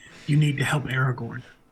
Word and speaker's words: Aragorn: heard of that it's happening here to find Aragon Aragorn yeah more than more than two syllables I said acorn Way Corner that's then